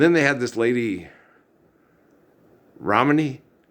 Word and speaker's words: Ramani: It's not like Romney, like the stadium in Logan, Utah, the Romney family of Mitt Romney and all that. She's from India. Okay, namaste. It's Ramani, Ramani. Okay, and that's how it's spelled, like Ramadan, Ramani.